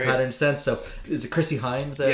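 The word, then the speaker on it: Chrissie Hynde: So is it Chrissy Hynde, the pronunciation?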